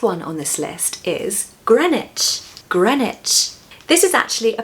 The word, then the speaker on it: Greenwich: Why are we saying gran, for example, and not green? And where's the W? The W is missing. You've got to say it like gran, not green. So stress that first syllable, gren, Greenwich, Greenwich. Take away that W so that we've just got the ICH left.